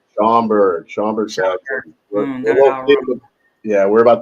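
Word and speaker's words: Schaumburg: How do you pronounce that? Shamburgg. Shamberg.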